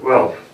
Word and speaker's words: Guelph: Why the hell would you have an international director out of Guelph? Did I pronounce it right?